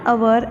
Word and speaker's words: hour: Example, an hour, an honorable person, an honest boy. In each of these cases, the first consonant letter H is silent.